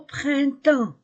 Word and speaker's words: printemps: a o nous sommes au Printant je ne prononce pas les lettres P et S nous sommes au printemps